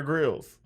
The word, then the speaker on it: Grylls: with bear grylls corellis well we say gorillas but he doesn't pronounce his name that way he says bear grylls it's his name i guess we should call it anyways he says it like that you know he has the accent which i'm not good